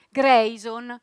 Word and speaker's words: Greison: Grayson, si scrive esattamente come si legge, Grayson.